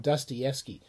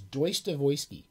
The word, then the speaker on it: Dostoevsky: who went to grad school call it called dostoevsky the proper russian pronunciation is deutsche voisky so if you want to show off how clever you are refer to as joyce devoisky and and you will turn heads in the